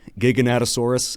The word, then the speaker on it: Giganotosaurus: Little disclaimer, Gigantosaurus could be called Giganotosaurus. I just pronounce it Gigantosaurus because it looks like Gigantosaurus to me.